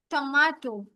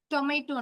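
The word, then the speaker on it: tomato: আলু, টমাটো, টমেটো না, টমাটো, ইংরেজিতে প্রোনাউন্সিয়েশন আসবে টমাটো, বাংলায় টমেটো।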